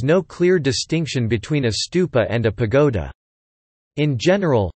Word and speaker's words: stupa: thought to derive from the Pali word for stupa, thupa, the Sanskrit pronunciation being stupa. In particular, the type of the tower-like stupa, the last stage of